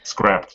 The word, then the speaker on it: scrapped: But then I scrape this thought, like scrapped, not scraped.